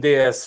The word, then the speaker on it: DS: The DS, which was introduced in the late 60s, and DS with just the letters D and S and pronounced DS, which is French for goddess.